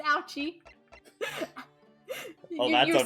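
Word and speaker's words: Auchi: That's how it's pronounced, Ouchie.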